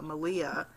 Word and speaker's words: Malia: On the same topic of spinning, I wanted to mention Malia, Rhymes with Maria on Ravelry.